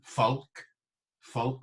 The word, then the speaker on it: folk: the G pronounced, longen, Foulke with the L pronounced, remember, as we had earlier on with the L pronounced, to go on pilgrimages.